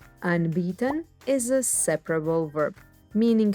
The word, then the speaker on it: anbieten: you a handy verb used to offer things unbeaten an b 10. e is always pronounced like a long slow e unbeaten is a separable verb meaning to offer or